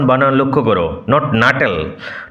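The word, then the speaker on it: Nuttel: My aunt will be down presently mister নটল। উচ্চারণ বানান লক্ষ্য করো, নট নাটেল, নটল বটলের মতো উচ্চারণ হবে।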